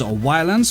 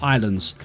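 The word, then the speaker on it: Ylands: might know it as a violence because it starts with a y rather than an eye but it is actually pronounced islands and i think the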